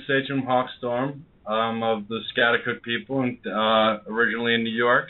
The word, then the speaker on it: Schaghticoke: He's sachem of the Schaghticoke. Did I pronounce that right? Hawk. Yes, Schaghticoke, yes.